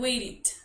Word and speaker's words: waited: Entonces agregamos la ed y la E suena como una I.